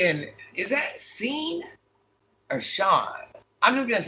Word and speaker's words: Sean: Sean, it's pronounced Sean.